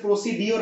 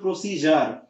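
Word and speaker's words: procedure: ডিক টি থাক কিংবা এস থাক যেমন হচ্ছে প্রসিডিউর না উচ্চারণটা হবে প্রসিজার নেক্সটে আসেন ডিপ পার্ট থেকে আসে ডিপারচারি যেমন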